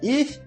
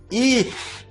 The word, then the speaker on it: ich: Note que o CH da palavra ich não é pronunciado como o CH em cachorro, é um pouco mais suave. Ich. Você fala o ish com a língua na ponta dos dentes. Ich e a boca um pouquinho aberta.